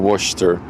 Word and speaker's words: Worcester: Worcester sauce. What? You're dropping like a whole syllable in that word by saying Worcester.